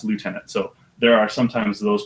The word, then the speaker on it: lieutenant: to some soldiers so left tenants in Canada they're called Left tenants but because he's not Canadian he wanted it to pronounce Lieutenant so there are sometimes